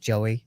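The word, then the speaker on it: Jowy: For example, Joey is spelled J O W Y, but it is pronounced Joey.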